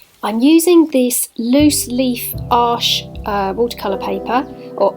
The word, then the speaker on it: Arches: I'm using this loose leaf arche watercolour paper, or arches, but it's French, so it's pronounced arche.